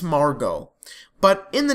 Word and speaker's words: Margot: I think it's Margot. But in the name, there's a T at the end, but I'm pretty sure it's silent because in the show, they pronounced it Margot.